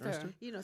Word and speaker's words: Earnster: Ernster.